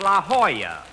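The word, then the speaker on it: La Jolla: found out that's pronounced La Hoya it turned out to be a Spanish word don't don't I should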